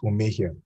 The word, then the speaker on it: Omohia: It's actually pronounced Omohia, but hello, can everyone hear me?